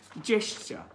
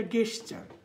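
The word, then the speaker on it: gesture: American ব্যাপার, তেমন না, অনেকেই বলে এটা গেস্টার, গেস্টার বলে আসলে উচ্চারণ নাই, আপনি একটু উচ্চারণটা ঠিক করবেন, যে জেস্টার, জেস্টার।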